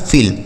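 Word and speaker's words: fill: फिल, एफ से फा, आई से छोटी की मात्रा और डबल एल से ल लिखा है फिल।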